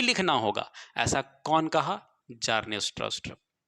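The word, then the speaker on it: Bjarne Stroustrup: जार्ने स्ट्रॉस्ट्रप। B silent है, बी हम पढ़ नहीं रहे हैं, जार्ने स्ट्रॉस्ट्रप।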